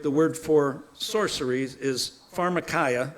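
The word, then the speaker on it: φαρμακεία: Because in the original Greek, the word for sorceries is pharmarmacaya. That's how you pronounce it in Greek. A lot of us say pharmarmacia.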